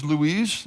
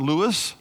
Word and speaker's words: Louise: Now, it is Louise, not Lewis.